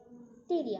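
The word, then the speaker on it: Pteria: और एक स्पीसीज है that is टेरिया, टेरिया P silent रहेगा यहाँ पे, टेरिया।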